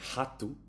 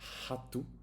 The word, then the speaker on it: rato: So if the R is in the beginning, you would say rato. It's like an H, like a very soft rato.